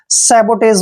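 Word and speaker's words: sabotage: ज पढ़ेंगे ठीक है जब भी लास्ट में ई आता है तो उसका उच्चारण हम नहीं करते हैं सेबो ज देखिए सेबो पेज मींस होता है तोड़फोड़ सेबो ज तोड़फोड़ जब भी कोई तोड़फोड़ होती है तो उसको हम इंग्लिश में सबोटाज बोलते हैं क्लियर नेक्स्ट वर्ड देखिए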